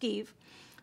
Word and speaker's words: GXVE: This is pronounced GXVE. I don't know why. It's G-X-V-E, but it's pronounced GXVE.